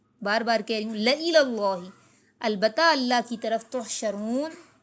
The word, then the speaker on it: لَإِلَى اللَّهِ: او قتل تم، یا تمہیں مار دیا گیا، لَإِلَى اللَّهِ، اس کا تلفظ درست رکھنا ہے، ٹھیک ہے؟ بار بار کہہ رہی ہوں، لَإِلَى اللَّهِ، البتہ اللہ کی طرف، تحشرون، تم اکٹھے کیے